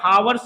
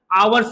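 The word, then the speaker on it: hours: देखिए इसका जो हम प्रोनाउंसिएशन निकालते हैं, तो यहां पर इसको हम क्या, हावर्स नहीं पढ़ते, लिखा हावर्स है लेकिन इसको पढ़ते क्या, आवर्स पढ़ते हैं, यानी जो आवर्स पढ़ते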